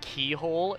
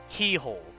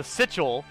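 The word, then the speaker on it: Cichol: handle the fact that Keyhole is is written c i c h o l Keyhole the I the C makes a k the I makes an e the SEC the next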